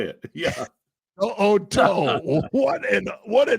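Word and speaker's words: To'o To'o: To'o. Sounds like I'm getting it wrong, but To'o is how you say it. Yeah. To'o.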